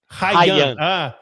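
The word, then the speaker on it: Huijsen: And that's where, how do you pronounce Ryan? Hyen? Hyen.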